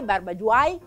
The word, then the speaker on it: barbagiuai: perché perché facciamo i barba white barba giuan barba dwan barba guai barbagiuai a secondo come lo vogliamo pronunciare barba in ligure vuol